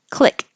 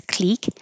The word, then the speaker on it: clique: Click. This kind of spelling can be pronounced exactly the same as click, like click here. It can also be pronounced as clique, but I think that's less common for American speakers of English.